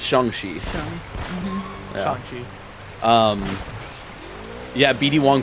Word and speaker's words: Shang-Chi: it's Shang-Chi.